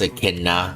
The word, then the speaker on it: Echidna: Yeah, it's pretty sure it's pronounced Echidna, just like the animal.